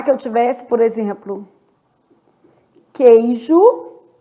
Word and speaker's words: queijo: Então, na palavra queijo, 6 letras, 5 fonemas. Há dígrafo, porque o U não é pronunciado, o U é nulo.